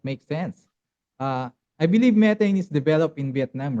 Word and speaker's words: Metain: But so the name looks like Metan, right? Like in English, right? But Metain is how we pronounce it because it's Meta Data Invest, Meta Invest, right?